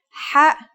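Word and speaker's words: حاء: According to phonetic charts, ha is pronounced in a deeper part of the throat than kha.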